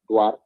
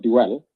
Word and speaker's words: Duar: If you read the communique, I'm quite honorable, Duar, not Duel. Dual, the Sudan, that is Duel, this is Duar, because I've seen, it's